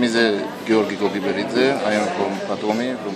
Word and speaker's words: Giorgi Gogiberidze: Batumi International Art House Film Festival, dal nome impronunciabile. Can you tell your name, because for me it's impossible? My name is Gheorghe Kodiberidze, I am from Batumi, from Batumi Film Festival.